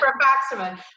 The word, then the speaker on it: Rifaximin: Rifaximin, yep. Rifaximin.